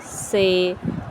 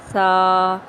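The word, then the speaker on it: ث: سے پرہیز کرنا ہے، یعنی بے، تے، سے، ہے، خے، توئیں، زوئیں وغیرہ ہرگز نہیں پڑھنے، بلکہ با، تا، سا، ہ، خ، تو، زو پڑھیں گے۔ حروف مفردات میں سے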